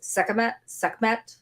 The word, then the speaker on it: Sekhmet: and I know I'm going to pronounce her name wrong, but the Egyptian goddess Sekhmet.